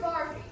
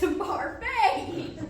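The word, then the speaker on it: Barfée: Mr. Barby. It's Barfay!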